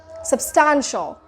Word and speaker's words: substantial: syllable are here substantial so where are we putting the exact stress so it's sub 10 substantial substantial so that's how you pronounce